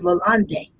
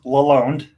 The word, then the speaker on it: Lalonde: and that is lalande did i pronounce your last name correctly close it's it's pronounced laloned okay malone nobody so